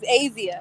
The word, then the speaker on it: Azia: you pronounce your name my name is azia like asian okay so i said